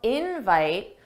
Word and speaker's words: invite: And notice how invite, the stress is on in. That's the stress syllable. Dada, invite, invite. Thanks for the invite. And that's because in this case, invite is a noun. And that's why the stress is on the first syllable.